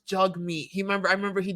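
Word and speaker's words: Jagmeet: don't know what anyway jeg meat oh J no it's not it's it's jug meat he remember I remember he did a video on his pronunciation of his name it's jug meat we just say juge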